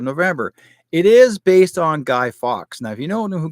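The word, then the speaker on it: Fawkes: it is based on guy fox now if you know who guy Fox is is spelled f a wkes guy Fox is actually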